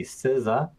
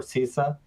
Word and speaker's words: CISA: popular certification from isaka the siza as I pronounce it or cisa as you might find it in plenty of places around the world C certified Information Systems